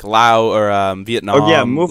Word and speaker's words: Laos: The S is silent.